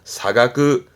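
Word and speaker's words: 差額: 발음은 사가그.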